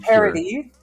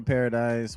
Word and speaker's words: Paradis: team mikasa and training parody i always say if you're american you say paradise we're going to let it slide because you know paradise the s is silent that's the sound yes